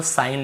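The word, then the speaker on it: sign: सिग्न, कई लोग सिग्न बोल देते, कई लोग सिंग बोल देते, कई लोग तो वो केवल साइन लिखा हुआ है, लेकिन जी को लिखना है, हमें याद रखना है।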